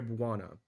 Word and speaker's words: Buana: So it is pronounced Beware Buana, kind of like Moana, but like Buana.